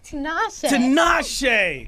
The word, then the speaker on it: Tinashe: Tinashe.